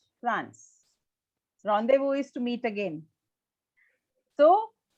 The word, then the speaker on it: rendezvous: rule so why we don't pronounce it as randy boos any idea it's not english word when it's derived from another language yes it's different a word from french france rendezvous is to meet again